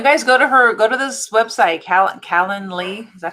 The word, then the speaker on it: Calendly: And you guys go to this website, Calendly.